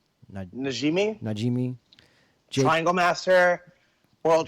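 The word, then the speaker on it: Najmi: Najimi, Najimi.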